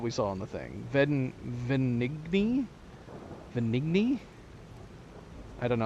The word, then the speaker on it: Venigni: Oh, the G is silent. Is it really just Venini?